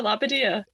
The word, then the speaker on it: Labbadadio: Yeah, Labbadia. Labbadia. Yeah, it's Jewish, Fred. That's why you're having trouble with it. Labbadia. So actually, it sounds like it looks.